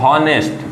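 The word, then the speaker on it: honest: बच्चों के हिसाब से यह शब्द लिखा है ऑनेस्ट ऐसा नहीं है यह शब्द गलत है अगर आपने शब्द का उच्चारण निकाला है ऑनेस्ट अगर साइलेंट है और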